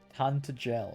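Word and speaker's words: Tantegel: Tantagel is how it's pronounced.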